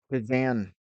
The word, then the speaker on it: Kazan: pulled off a crazy strike in the cazar Kazan region I think I said it right Kazan region and it was a th000 kilometers from